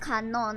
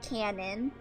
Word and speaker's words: Kanon: And Kanon is definitely pronounced Kanon and not Canon. Everyone always reads Kanon as Canon, and it drives me insane.